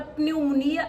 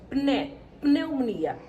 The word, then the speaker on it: pneumonia: Na palavra pneumonia acontece a mesma coisa. Pneumonia, pneumonia. Nós conseguimos perceber que tem um P e um N.